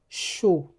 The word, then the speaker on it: chou: In native French words, C H, C H, sounds like sh. Sh. For example, chien. Chien. Chou. Chou. You won't say cou or quiang. It's chien. Chou.